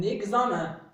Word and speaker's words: examen: EN se prononce 1. Comme un examen. Un examen.